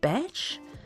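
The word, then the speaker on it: bach: a holiday home so a badge pronounced batch is a small often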